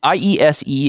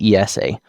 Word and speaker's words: IESE: It's IESE in English, and in Spanish, typically they say ESA.